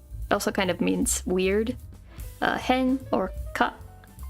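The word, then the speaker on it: 変: Hen or ka.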